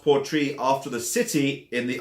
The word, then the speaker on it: Port Ruighe: Now, it looks like it's spelled Port Ruighe, but it's actually pronounced Port Ruighe after the city in the Isle of Skye, or actually the port.